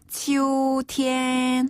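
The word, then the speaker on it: 秋天: 가을은 가을 투자를 써서 치우 티엔 치우 티엔 한번다 치우 티엔 이것도 평조요 그렇죠 치티네 소름으로 길개 치오 티엔 이고요네 겨울은 겨울 동자를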